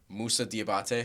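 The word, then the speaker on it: Moussa Diabaté: And then, please correct me if I say his name wrong. Musa Diabate.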